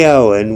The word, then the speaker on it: Awen: We chant the Awen 3 times, and the word is chanted as the 3 syllables.